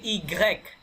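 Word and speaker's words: i grec: কথা ডব্লিউ ভে হ্যাঁ এক্স ওয়াই কে বলে ইগ্রেক ইগ্রেক যদি এরকম কোন উচ্চারণ নাই ইগ্রেক এর মতো এটা ওয়াইটা ওয়াই এর মতো উচ্চারণ নাই ইগ্রেক বলেন ইগ্রেক জেড জেড ওকে এখন মসিও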